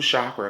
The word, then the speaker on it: chakra: heart Dec are two chakra cards when I pulled these cards I first heard spirits say it's the shock I'm sorry I'm pronouncing it wrong it's pronounced chakra spirit said it's gonna